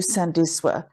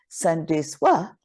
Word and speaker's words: Sandiswa: So Sandiswa and Sandiswa would be two different tenses in Xhosa. So Sandiswa is how you say my name, but most people would go Sandiswa. And that just changes because it means to add value. But then if you pronounce it as Sandiswa, it means they added value. So it's like a past tense of me adding value currently.